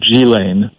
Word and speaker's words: Ghislaine: circumstances, has a daughter whose name is pronounced, I believe, Ghislaine, but it's spelled Ghislaine. And she and Bill Clinton